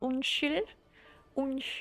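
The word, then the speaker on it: unnskyld: you pronounce it as un un because you don't pronounce the d and the Norwegian rules the S and K become an S sound if there's a y after it so un un it's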